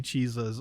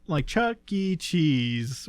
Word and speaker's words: Chuck E. Cheese: Cheeses also. Because it even, like Chuck E. Cheese, where a kid can be a kid, doesn't make as much sense as Chuck you're E.